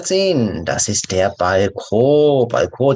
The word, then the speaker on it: Balkon: Balkon, 다시 살짝 프랑스 발음 때문에 발콘 이 마지막은 강하게 발음 안 하셔도 됩니다.